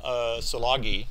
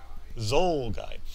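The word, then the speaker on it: szulgai: positive as well m salagi i pronounce that right it's zy Z guy is already one positive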